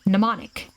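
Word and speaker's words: mnemonic: X Y and Z same Greek root word as the word pneumonic the m is silent in her bag her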